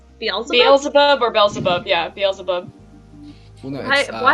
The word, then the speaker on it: Beelzebub: is Bella see bubble-bath wait how do I pronounce that yes I say Beelzebub Beelzebub or belzebub yeah it feels above hi I heard of